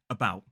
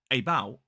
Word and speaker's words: about: Listen to this word, about, again, about, again. Both of these two words, the second syllable is stressed. I'm talking about the schwa, about. It's not about, it's about. So, when it is unstressed, that vowel sound can be replaced by a schwa.